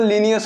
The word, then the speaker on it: Linnaeus: Carolus लीनियस, ये लीनियस की spelling में ज़्यादातर बच्चे कंफ्यूज हो जाते हैं, तो देख लीजिए लिनाइयस, अगर इसका प्रोनाउंसिएशन किया जाए तो लीनियस होता है, LINNAEUS।